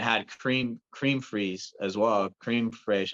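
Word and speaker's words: crème fraîche: Cream fraiche. I don't know how you say it exactly. Creme fraiche. Yeah. Creme fraiche.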